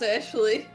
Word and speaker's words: Ashley: It's not even Ashley. It's Ashley. It's pronounced Ashley.